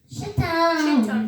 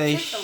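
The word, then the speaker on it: Chittim: Wait, chit. Chit him. Yes, that's how you Chitum. do it. Yeah. Chitum. Like how you say chicken.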